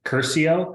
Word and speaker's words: Curcio: say his name wrong Curcio I think is how you pronounce his last name can you spell that